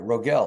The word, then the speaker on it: Rogell: Rogell. Is that how you say it? Yeah, you got it. Rogell.